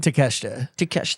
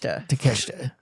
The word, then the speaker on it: Takeshita: Pronounce it again. Takeshita. Takeshita.